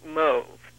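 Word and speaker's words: mauve: that moth okay well I pronounce it move and that's still the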